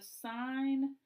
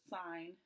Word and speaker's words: sine: So y equals the sine of x. We call that not sin, but sine. Pronounced sine.